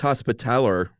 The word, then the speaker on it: Hospitaller: Knights Hospitaller, that's what I'm going to say, of the Order of St.